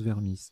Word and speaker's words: vermis: composé mettre que cuisinier vermisse en anatomie ça se prononce vermisse d'accord en anatomie c'est